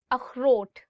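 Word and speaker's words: اخروٹ: अखरोट, walnut. अखरोट. So this word khe, it also comes from your, I would say like throat. So you'll really have to do is like अखरोट.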